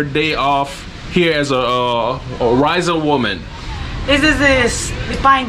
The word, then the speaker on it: Raizal: How you say it, pronounce it? I'm saying it wrong. More Raizal, how's it? Raizal or how's it? Raizal. Raizal. More Raizal.